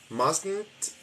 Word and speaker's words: mustn't: That must not, mustn't. There is the pronunciation of what we like to call the nasal T.